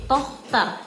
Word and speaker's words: Tochter: Jadi ada CH-nya semacam ada kol-kolah gitu, tapi samar-samar jadi Tochter. Oke, ingat ada CH di sini, Tochter. Good.